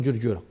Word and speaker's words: Djurdjura: Dans les années 80, les gens prononçaient correctement Djurdjura.